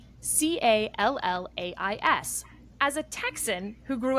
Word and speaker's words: Callais: We will hear argument first this morning in case 24-109, Louisiana versus Callais, and the consolidated case.